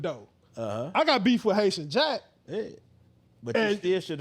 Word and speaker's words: Haitian Jack: I go in a city that my stuff with Cayman Jack is going. Is that I say his name right? No. Haitian Jack. I'm sorry. I said I'm thinking of the boxer.